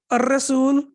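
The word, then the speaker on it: الرسول: Ar-Rasul. So again, we can see this is Ar-Rasul because of Ra.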